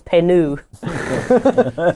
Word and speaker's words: Penu: he doesn't go is you're pronouncing it wrong it's not peanut it's penu like bouquet um mostly just read